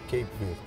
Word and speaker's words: Cape Verde: In the Portuguese, we say Cabo Verde. Cabo Verde. Cabo Verde. But in English, we say Cape Verde. Cape Verde. Okay, tell me something about Cape Verde.